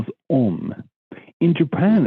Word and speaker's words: Om: So, for example, when we think of the holy syllable as Om, in Japan it's pronounced Ung.